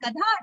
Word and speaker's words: गधा: It is just like Guruji, it is not Gada, it is Gadha, donkey.